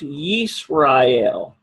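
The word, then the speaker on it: ישראל: This is pronounced Yisrael.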